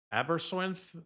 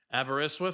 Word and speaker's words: Aberystwyth: Aberystwyth, I think.